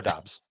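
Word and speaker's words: Doubs: 2023 for a while nobody really knew how to pronounce my last name oh wherefore art thou oh yeah I know Romeo dobs yes good job buddy Romeo do wherefore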